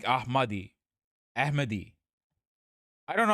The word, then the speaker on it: Ahmadi: Not Mahdi like Ahmadi.